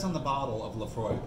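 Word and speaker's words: Laphroaig: Lafroig, yeah, and we're pronouncing it correctly.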